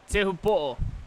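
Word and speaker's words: Teahupo'o: That's everybody knows the nickname of the actual wave, but the correct pronunciation is? Te Hupo'o.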